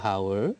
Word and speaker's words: hour: Jadi tidak an atau tidak a hour tapi an hour. An hour, Ya, yes. kita mengacu pada bunyi. Itu ada lagi. Meskipun hurufnya adalah konsonan, Konsonan. tapi itu bunyinya Pengucapannya bunyi vokal.